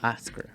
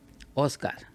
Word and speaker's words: Oscar: No, Oscar. Oh, it's funny. I go to stores, you know, order stuff. I say, you know, that's my name, Oscar. That's the way you pronounce in Spanish.